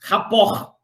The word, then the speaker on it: rapport: Rapport, Janine, é um conceito que, como o próprio nome, a pronúncia você já imagina, vem do francês. Vem do francês, rapport.